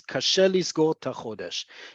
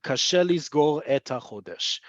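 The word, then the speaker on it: קשה לסגור ת'חודש: Think of how it sounds. Kashe lisgor ta chodesh. Instead of kashe lisgor et chodesh.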